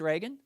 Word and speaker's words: Reagan: an actor and Joseph so you're sure it's Reagan yeah yeah it's Reagan you say Reagan you'll be fine there's a ho boy thanks